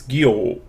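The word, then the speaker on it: Gyō: This line here indicates a long syllable. So instead of Gyo, it's Gyo. So it's a long syllable, Gyo.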